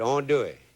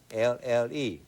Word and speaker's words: andouille: And today I'm going to cook you some chicken gumbo with andouille in it. That's a sausage that we make in Louisiana just for making gumbo. It's a gumbo sausage. It's spelled Andouille, andouille.